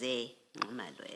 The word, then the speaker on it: Zingumalo: So the correct pronunciation is Zingumalo, as is written here.